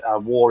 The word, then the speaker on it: Wor: because it's called Warhammer, but war is spelled W-O-R. It's because we're based up in Newcastle, and war up here means hour, so it's like our hammer.